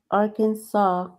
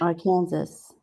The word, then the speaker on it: Arkansas: Arkansas rather than our Kansas.